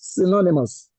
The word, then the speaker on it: synonymous: The word is rightly stressed on the second syllable. synonymous. The first letter Y sounds a synonymous. The O U makes the sure sound synonymous. Synonymous instead of.